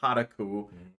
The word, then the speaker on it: Kotaku: You're writing for IGN or Kotaku. You fucking asshole. You have me pronouncing it that way, but I think I it's know.